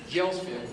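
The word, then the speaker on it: Gjelsvik: them to change their name because their name jailsvic was was spelled g-j-e-l-s-v-i-k and the immigration officials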